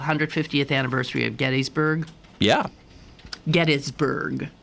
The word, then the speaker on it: Gettysburg: anniversary of Gettysburg yeah get isburg yeah it's a proper pronunciation um and I'm reading